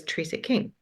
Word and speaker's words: Trecek-King: pronunciation of my name my last name is Tres King so trk is a Bohemian name my my dad's family